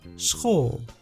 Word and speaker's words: school: The We write it the same way, but we pronounce it completely different. Schol.